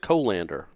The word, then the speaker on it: colander: So you just twist the lid and then You pronounce it colander, like Zoolander. Colander. I've always heard it colander, but I like colander better.